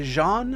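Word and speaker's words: Xi'an: Tech or is a jean I know they pronounce it like Jean in Squadron 42 but I I like calling them xan it just seems more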